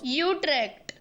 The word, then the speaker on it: Utrecht: Utrecht. Okay. That's it. That's the one. That's the official pronunciation.